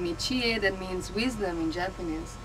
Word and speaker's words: Tie: You write like Thai, but I'm not a Thai. It's Chie. You pronounce Chie. It's a So Japanese name. T-I-E. It's a Japanese name.